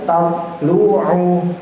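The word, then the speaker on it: تطلع: Tatlu'u. Nah, to lagi, nggih. Berarti qalqalah kembali nggih. Tato. Jangan sampai tatlu'u. Nah, salah bacaannya. Tapi bacanya yang benar tatlu'u ala.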